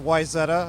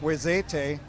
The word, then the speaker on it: Wayzata: He's actually credited with coming up with the current pronunciation of Wayzata. Up until then, it was more like Wayzate.